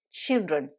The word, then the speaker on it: children: scheid et children donc dans ce mot attention puisque au singulier le i se prononcent eux aïe c'est normal puisque dans l'alphabet anglais la lectrice ses leçons haye en revanche au pluriel le i se prononcent eux ils donc fait très attention dit child et children alors tout ce que